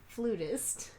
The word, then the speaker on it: flutist: Both is correct. Oh, okay, great. Oh, for real? Yeah. Huh. Depends on where you are.